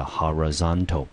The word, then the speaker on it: horizontal: 成 horizon 和 horizontal，注意它的重音节变成在第三个音节了 horizontal，那 vertical 啊，它呢是在第二个音节。